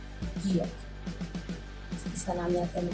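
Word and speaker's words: 기역: पहला कॉन्सनेंट है गियक। इसका नाम याद करने की ज़रूरत नहीं है, मैंने सिर्फ बताया है आपको ये है गियक। इसका प्रोनाउंसिएशन जो है, इसे किस तरह से पढ़ा जाता है, वो है ग या फिर ख।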